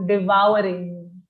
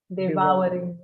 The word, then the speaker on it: devouring: outside food outside food so this word is a slightly tricky pronunciation think of the word wow how we say wow right so devouring devouring yeah that's a good